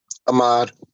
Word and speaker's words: Ahmad: lower your head uh do you pronounce that Ahmed or Amed Ahmad Ahmad okay all right so